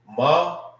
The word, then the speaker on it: Ma'aya: Bowels and internal organs is Ma'aya. Ma'aya. All right. If you want to know how to say this, it's simple. Ma. All right. I. You know what I mean? You're just making the sound.